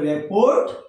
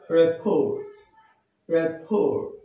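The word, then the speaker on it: rapport: আরটি রেপোর্ট যার অর্থ সুসম্পর্ক আচ্ছা কিন্তু এর উচ্চারণ আসলে রেপোর্ট নয় এর উচ্চারণ রেপ রেপ আবার খেয়াল রেফর ওকে আমাদের রেপ এই ওয়ার্ডের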